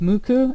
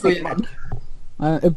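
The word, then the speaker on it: MUCC: And then I've always heard it pronounced Muku, M-U-C-C. Yeah, Mark. I think it's Muku.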